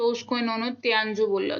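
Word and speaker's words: 天竺: सिंधु को जो है इनकी प्रोनाउंसिएशन वो तियानजू थी।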